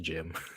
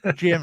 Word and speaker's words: GM: it's yeah it's weird it's spelled GM it's just pronounced Jim yeah gim or gem um and and so